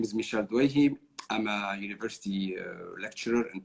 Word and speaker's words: Douaihy: It's actually. You have to pronounce the Douaihi.